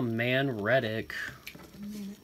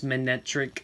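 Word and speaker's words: Manectric: Widelands, and a Manretic. You know what? It's how I pronounce it. Manretic is how I've always said it. It's Manetric, which, honestly, sometimes I like the way I say I'm better.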